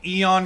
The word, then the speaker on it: Eon: It's literally just 2 syllables.